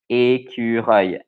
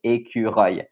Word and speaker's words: écureuil: the hardest to pronounce, because there's a œil at the end and there's a U in the middle. So écureuil, and you have the R.